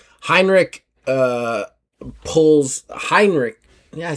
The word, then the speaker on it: Heinrich: Heinrich, uh, pulls Heinrich Yeah, I said it right, didn't I?